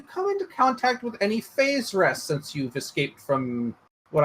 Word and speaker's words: Faerzress: And you say, have you come into contact with any phase rests since you've escaped from what I assume are your drow captors? What word did he just say? Phase rests? Phase rests. Faezzress.